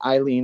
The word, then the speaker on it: Eileen: Just remember, people, if the word has some sort of Germanic influence, it's pronounced by the second vowel. That's why Eileen is Eileen, because it's EI, and it has Germanic history. Yes. Okay, but if it would be IE, it would be Elaine.